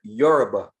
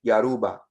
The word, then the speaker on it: Yoruba: yoruba is the word if you from the caribbean if you're from like a latin island they will say yaruba because it's their accent is how they say it yaruba but the correct term is yoruba people from that area will call themselves yoruba right but they will